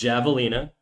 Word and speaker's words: javelina: We speak English. It's Javelina. The same way it's jalapeno. Alright? If we speak Spanish, I'll say ha, okay? The same way if we speak French, well, I'll just not pronounce the H.